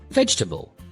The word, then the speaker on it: vegetable: It looks long, but native speakers shorten it. Instead of veg gel, they say varl. The middle sounds almost disappear. Try saying it naturally. Vegetable.